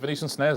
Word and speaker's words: Venetian Snares: sort of internet dialup I love I love venician snares don't you not like Venetian snares love them is it Venetian snares have I said it right yes yeah I